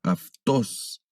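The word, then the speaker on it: αὐτός: El sonido de la ipsilon pasa a ser como de F, como el sonido de F, como en esta letra aftos.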